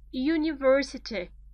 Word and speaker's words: university: you put on a university you in transcription you is written with j.j you so in front of this sound you don't put on you put a university the same on SMS